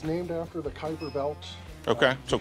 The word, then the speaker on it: Kuiper: It's named after the Kuiper belt. Okay. So Kuiper is how you pronounce it?